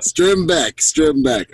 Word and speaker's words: Strimbeck: Close, Strimbeck, but Strimbeck.